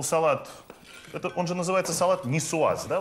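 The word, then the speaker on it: niçoise: Он же называется салат нисуаз, да? Вот как, по-моему, правильно произносится. Нисуаз.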